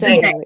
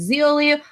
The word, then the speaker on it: Zélie: Okay, I wasn't sure if it was Zeoli or Zeoli. I didn't know if it was a sound. Every time I tried to say it in my head, I was like, that sounds like a pasta.